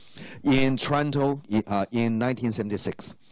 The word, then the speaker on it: Toronto: 人念，他不会念成 Toronto 哈，OK，好，那他个前